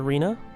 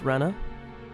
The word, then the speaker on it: Rena: Um I called her Reena the entire game. Apparently it was Rena.